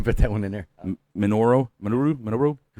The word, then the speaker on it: Minoru: Minoru?